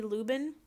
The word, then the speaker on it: Lubben: The lady that started it, her name is Shelley Lubin, Helley, and the last name is spelled Lubben, Shelley Lubin.